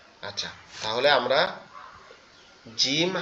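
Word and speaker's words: ج: শক্ত আওয়াজে পড়তে হবে জিম জিম এভাবে আর জিমটা আমরা কেমনে চিনবো অনেকটা কাঁচির মত দেখতে তার পেটে পেটের মধ্যে কি আছে?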